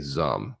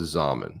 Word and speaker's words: Zaman: I just got used to saying Zum. Now it's Zaman. So rhymes with ramen.